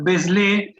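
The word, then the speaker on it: Vézelay: Se llama Beslé, que se escribe Beselay. B corta, Z, Y, Beselay.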